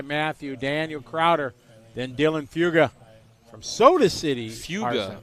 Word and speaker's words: Fuga: Ethan leading the way, Matthias, followed by Matthew, Daniel Crowder, then Dylan Fuga from Soda City. Fuga. I keep seeing Fugi. Fuga. Fuga. Trust me, I said it wrong for 2 years.